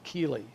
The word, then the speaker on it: chele: And chelation comes from the word chele, C-H-E-L-E, the hard C like in chemistry.